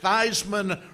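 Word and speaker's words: Theismann: all known for decades that Theisman rhymes with Heisman will heal rhymes with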